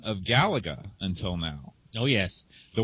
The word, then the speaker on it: Galaga: It's Galaga, by the way. How do you pronounce uh that game, Sven? Uh Galaga.